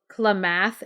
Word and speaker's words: Klamath: I think it's called Klamath Indians I hope I'm pronouncing their name right it's que la ma th Klamath so the Klamath Indians